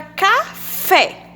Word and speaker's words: café: Por exemplo, a palavra café, que vocês estão vendo aqui. Café. A gente tem uma sílaba acentuada. Então, a gente já sabe que a sílaba tônica é o fé, porque está acentuada.